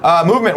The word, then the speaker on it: MVMT: MVMT Watches, that's MVMT, but it's pronounced Movement, was founded on the belief that style shouldn't break the bank.